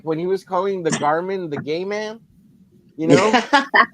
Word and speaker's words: Garmin: He would call him gay man.